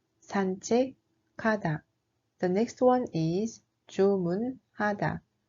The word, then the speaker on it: 산책하다: The 17th is 산책하다, which means to go for a walk or to take a walk. The actual pronunciation is 산책하다, 산책하다.